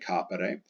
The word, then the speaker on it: capere: Second principal part ends in a short ERE, capere, accent on the A, capere.